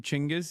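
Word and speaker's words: Chinggis: Uh just learned he you pronounce his name Chingis.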